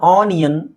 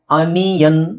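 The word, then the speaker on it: onion: ಈರುಳ್ಳಿ ಉಳ್ಳಗಡ್ಡಿ ಇದಕ್ಕೆ ಕಾಮನ್ಆಗಿ ತುಂಬಾ ಜನ ಆನಿಯನ್ ಅನಿಯನ್ ಅಂತಾರೆ ಆಕ್ಚುಲಿ ಅದ ಸರಿಯಾದ ಉಚ್ಚಾರಣೆ ನಿಮಗೆ ಯ ಅನಿಯನ್ ಅನ್ಯನ್ ಅನಿಯನ್ right ಅನಿಯನ್ okay ಇದು ಪೀಪ್ಸ್ ಅಂತ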